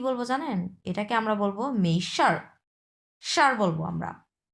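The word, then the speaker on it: 没事儿: প্রথমটা মেই হ্যাঁ মেই মেইশার মেইশার হুম শারটা হচ্ছে হচ্ছে চার নাম্বার টন এটা হচ্ছে দুই নাম্বার টন এই শারটা হচ্ছে চার নাম্বার টন মেশার মেশার মেশার মানে হচ্ছে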